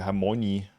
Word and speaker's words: Hermione: Das Krasse ist ja, im Englischen heißt sie ja gar nicht Hermine. Da wird sie ja Hermione ausgesprochen.